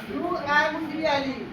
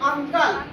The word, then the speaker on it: uncle: जैसे UNCLE, UNCLE, है ना, अंकल, तो क्या पढ़ेंगे, अंकल, यू का उच्चारण करो आ।